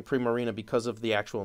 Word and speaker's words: Primarina: It's got to be Primarina, like prima donna Marina. Like, come on. I can understand saying Primarina because of the actual